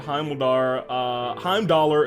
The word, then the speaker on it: Heimdallr: I don't mean how many times I reminded you of this, but Heimdallr is pronounced Heimdall. But what about the R? We can't stop the R.